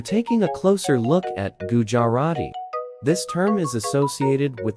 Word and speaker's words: Gujarati: Pronounce Gujarati as dirty. The stress is typically on the second syllable, jar.